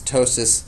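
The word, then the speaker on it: ptosis: caused my tosis and that's tosis spelled with a p that's right p is in Tois and uh so Beth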